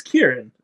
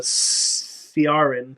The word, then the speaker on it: Kieran: i e Ren oh so it's Kieran yeah oh that's not how that's not how I would have pronounced it I would have pronounced it uh sarin yeah like I would go like serion like a but Karin actually makes sense in Irish uh yeah that the